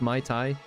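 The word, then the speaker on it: Muay Thai: though um the My My Thai is that's how it's pronounced My Thai the skin Felisa saying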